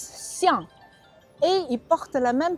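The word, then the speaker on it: 象: Parce qu'en chinois, éléphant on prononce xiang.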